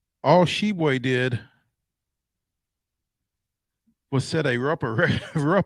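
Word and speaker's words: Tshiebwe: honor with kentucky forward oscar hebwe which is not spelled like it sounds all shebway did was set a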